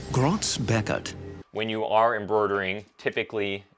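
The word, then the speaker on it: Groz-Beckert: i prefer to use i think it's pronounced grotz beckett when you are embroidering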